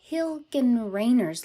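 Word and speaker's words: Hilgenreiner: also and this is called the hilgan raynor's line that is my american german way to pronounce it named after this german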